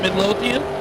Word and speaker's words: Midlothian: that is that a no not how you pronounce it Midlothian Midlothian is that not what I said oh